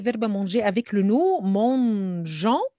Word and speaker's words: mangeant: Alors, on va conjuguer verbe manger avec le nous, mangeant. N'oubliez pas le E pour la prononciation. Alors, without this E, it will be mangan.